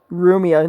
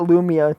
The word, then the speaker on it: Rumia: can understand Because in in Japanese the pronunciation for L just doesn't exist. So which is why it's it's Ria in the main in the official game. Rumia, not Lumia.